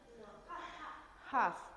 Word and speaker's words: half: No es half, es half, half. Tienen que... Half, esa es la pronunciación, half. Muy bien. Perfect. La L, invisible.